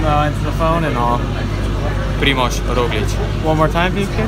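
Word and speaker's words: Primož Roglič: watched your The Move podcast and you were pronouncing the Ana Liambo right or wrong. His name is Primož Roglic and he's from Slovenia and so am I. So repeat after me. Primož Roglic.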